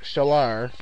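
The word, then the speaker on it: Çağlar: uh yes first name c-a-g-l-a-r pronounced shellar or something oh yeah i got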